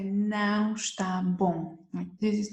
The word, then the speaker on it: está: Está frio. And nothing is worse than cold soup. Or you don't like the flavor, something is wrong. You can say, não está bom.